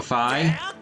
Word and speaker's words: Fi: With the canon pronunciation of Fee's name being Fi, you could say that she has Wi-Fi, which she uses to connect, which she uses to contact Scrapper.